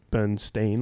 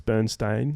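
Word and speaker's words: Berenstain: Bernstein and the Bernstein bears. It's like people thought it was Bernstein, like Stein, but it's Bernstein, like Stain.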